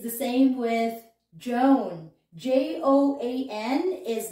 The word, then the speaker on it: Joan: joanne as well so it's the same jo an so in this sample